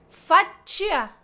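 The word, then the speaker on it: faccia: No pronuncio la i. ¿Por qué? Porque después viene una vocal.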